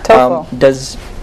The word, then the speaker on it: TOEFL: Now, what is TOEFL? Am I pronouncing that correctly? Yeah. TOEFL.